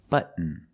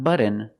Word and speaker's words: button: candy like cotton candy button button not button it's but stop T and fall to the end but push a button